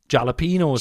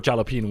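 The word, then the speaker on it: jalapeño: It's a h, not a j.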